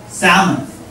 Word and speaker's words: salmon: Salmon. Salmon, they, actually the L is silent, so salmon, sorry.